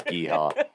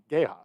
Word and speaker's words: Geha: I I say- so I'm- wish it was Geehaw. I'm pretty sure it is Geha. Geha. No, it's not. It I would wish be. it was. It would because the Yeehaw! Yeehaw rhymes with yeehaw.